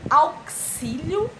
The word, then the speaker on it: auxílio: de z é auxílio auxílio ou auxílio x com som de s é shampoo ou xampu